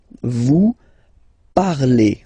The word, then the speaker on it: vous parlez: Let's see now for vous, vous parlez, okay? Remember, a Z, when you combine them together, you get the sound E.